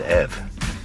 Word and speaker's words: EV: Actually, it's an EV. Rhymes with Kev.